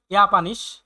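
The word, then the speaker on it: Japan: জাপানের টোকিও থেকে এসেছে জি স্প্রিক্ট সে বলে ইয়াপানিশ জাপানিশ বলে উন্নয়েশ এবং ডয়েস বলে লার্ন ইংলিশ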